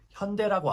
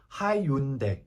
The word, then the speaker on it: 현대: 그러니까 미국 사람들이 현대 자동차가 있잖아요. 현대라고 안 하고 하이윤대 이렇게 했단 말이에요. HY를 하이로 읽어가지고 그래서 예전에 현대에서